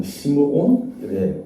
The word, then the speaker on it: 시므온: 시몬이라고도 불리고 게바라고도 불리고 베드로라고도 불리는데 조금 설명을 해드리면 시몬은 이 히브리식 표현으로 원래 발음 시므온의 발음이 원래 발음입니다.